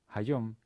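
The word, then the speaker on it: היום: the word is just in modern israel pronounced as like haiyom hayom with a regular short consonant but but still the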